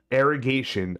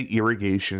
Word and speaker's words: Arrogation: Arrogation. I keep wanting to say irrigation. I'm like, no, it's not irrigation.